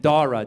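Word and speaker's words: Dhara: But then she wanted to Indianize it, so she added a silent H after the D. So now it's spelled D-H-A-R-A.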